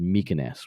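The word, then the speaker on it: Mykines: and fly out to what I think is pronounced mykoness which is one of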